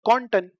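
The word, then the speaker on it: konnten: एक बात ध्यान रखना, प्रोनाउंसिएशन में आपके बिल्कुल भी यू ओ पे जो उमलाउट है, यू पे उमलाउट है, वो साउंड नहीं आना चाहिए। एक होता है क्योनन और एक होता है कॉन्टन, हो कॉन्टन, उमलाउट का सेंस नहीं दिखना चाहिए।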